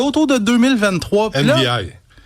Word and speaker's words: Ndi: Puis là, Ndi NDI, c'est comme ça qu'on les prononce.